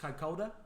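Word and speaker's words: Kaikōura: r but it's a maori word so it's pronounced kakoda oh god i don't even think i could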